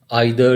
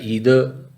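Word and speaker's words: either: और next word है आइदर या ईदर। सो नेक्स्ट है नाइदर या नीदर। सो नाइदर या आइदर ये ब्रिटिश प्रोनाउंसिएशंस हैं और ईदर नीदर अमेरिकन प्रोनाउंसिएशंस हैं।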